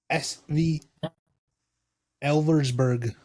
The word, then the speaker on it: Elversburg: How do you pronounce their name? SV Elversburg.